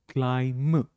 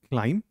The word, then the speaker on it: climb: It is silent. So we say climb. Climb.